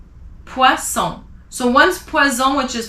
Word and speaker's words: poisson: And if it's two S, you say son. So two S makes the sound S, poisson.